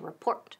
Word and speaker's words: report: ¿Y el acento dónde? En la segunda sílaba, to report.